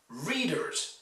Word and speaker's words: readers: Readers is stressed on the first syllable.